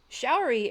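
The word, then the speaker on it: Sha'uri: Showery is actually, they spelled her name different in the movie from how it's spelled in the series, which I hadn't realized.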